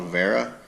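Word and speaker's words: Wiha: from a company called Rivera yes I know that's a W but they're German and that's how it's pronounced this is really high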